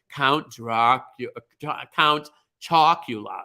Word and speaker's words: Count Chocula: Count Chocula is how you say that.